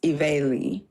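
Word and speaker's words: אֱוִלִי: And in Hebrew, that word is iveli, right? And the transliteration of that is spelled like evil.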